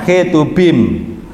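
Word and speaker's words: Ketuvim: Ya, Taurat, Nebiim, tulisannya Ketubim, tapi bacanya Ketubim. Ya, Ketubim.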